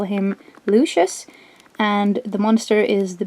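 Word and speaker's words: Lucs: first up here is lucious uh his name is based on the Latin word for light uh his name is spelled l u c s so it's a bit weird but um that is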